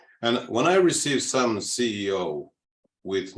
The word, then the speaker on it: CEO: and by the way it's pronounced CEO not seal okay every letter has to be pronounced for an American to understand and so all the